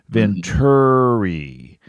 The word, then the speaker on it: Venturi: And then I would put Ventur, like TER, Venturi.